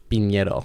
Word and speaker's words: Pinero: Pinero. Pinero.